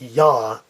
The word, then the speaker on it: ja: J word like this that's not JA its yah yah and I should add